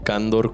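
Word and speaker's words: Cándor: Pueden encontrarnos en todas las redes como Candor Legal, Candor con acento en la A.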